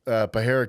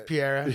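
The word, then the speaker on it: Pereira: Like, oh, and then you were like, yeah, I got Alex Pajera coming. Well, you didn't say Pajera, but I got Alex coming to my gym tonight. Alex Piera. Yeah, it's not Pierre.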